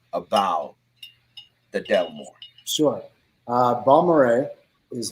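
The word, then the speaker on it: Balmorhea: tell the people about the delmore sure uh bombard is how it's pronounced um delmar when you use strange names like that for bottles there has to be a good story behind it and balmere uh park has the largest swimming hole in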